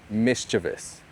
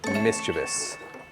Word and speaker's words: mischievous: This word is technically, officially pronounced mischievous. Mischievous. But I and a lot of people I know and everyone, most people I see online, on YouTube, on the news, on TV shows, they say mischievous. Mischievous. But the correct way to say it is mischievous.